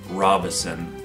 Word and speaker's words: Robison: While my last name is very similar to the last name Robinson, it is actually Robison. So you'll see that there's no N in the middle there. And it's not pronounced Ro, but Ra, like the sun god of ancient Egyptian mythology.